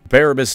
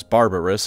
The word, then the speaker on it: Barabbas: Barabbas Dantioch, a loyalist iron warrior and man whose name I keep pronouncing as Barbarous on accident, sacrificed himself and overloaded it so that the traitors couldn't use it.